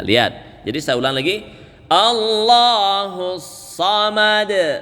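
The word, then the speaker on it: الله: Allah, tebal ya. Allah. Tidak boleh bacanya Allah. Itu bacaan salah.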